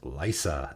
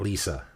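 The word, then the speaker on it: Liesa: edh uh next up lysa shroud of dusk and yes it's pronounced lysa as in lysa aaron from game of thrones not lisa or liaison or whatever lysa shroud of dusk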